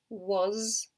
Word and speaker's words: was: you were born I was born in 1966 I was born in London notice the sound of he's got a zet sound at the end think of a buzzing babes was so this